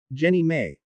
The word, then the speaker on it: JNEMA: They sanctioned the proposal, and the nonprofit Jefferson National Expansion Memorial Association, JNEMA, pronounced Jenny May, was formed.